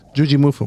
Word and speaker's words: Jujimufu: Jujimufu.